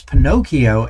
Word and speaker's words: Pinokio: That's Pinokio, and it's spelled PINOKIO.computer.